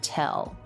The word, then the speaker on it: tell: to tell you something let's talk a little bit about the L in the word tell so that's true t e as in bed L and when the L comes after the vowel or diphthong in the syllable which here it's s so it comes after then it's called a dark l and Americans usually don't